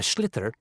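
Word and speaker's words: sliotar: you have to get this ball called a schlitter that's s l i o t a r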